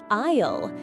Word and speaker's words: aisle: Isle. This word is spelled a i s l e, but the s is silent.